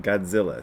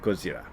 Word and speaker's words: Godzilla: thing is also what causes some confusion about godzilla so it's in english g-o-d-z-i-l-l-a and people will